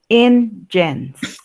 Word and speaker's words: engines: Por ejemplo, aquí en ingenies no se lee así, se lee ingens.